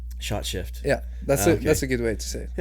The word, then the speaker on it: Skjøtskift: Shot, like a shot. Mm-hmm. Yeah. Shift. Shot shift.